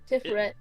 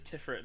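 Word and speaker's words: Tiphereth: to spell that character how you pronounce that character's name tiffer tifferet it is tifferet tifferet I gay all right yeah it's is tiffet not tith W hang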